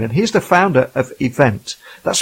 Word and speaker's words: Evvnt: And that brings me to today's guest, who is Richard Green, and he's the founder of Event. That's spelled EVVNT.